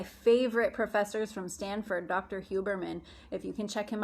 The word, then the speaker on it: Huberman: professors from stanford dr hubermann if you can check him out on youtube he's amazing his name is dr hubermann um pretty much spelled phonetically h-u-b-e-r-m-a-n dr huberman he just did um an